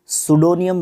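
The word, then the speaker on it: pseudonym: सबसे पहली बात तो ये है, इसको सुडोनियम बोलते हैं प्रोनाउंसिएशन के हिसाब से।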